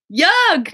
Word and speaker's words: Jörg: So in English, that's just like saying your name with like a J and an E instead of an O with umlauts.